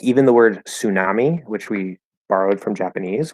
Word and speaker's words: tsunami: the original pronunciation but the natural way to say that is tsunami we drop the T and just make it an s so that's not